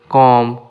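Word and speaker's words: comb: Be silent কম। কম মানে চিরনিী। এখানে বি লেখা আছে কিন্তু বলা হয় না।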